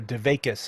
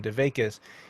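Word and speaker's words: dveykus: quality of Devakute, or Devakis as it's pronounced, the Yiddish pronunciation, Devakis, means to be connected to the divine.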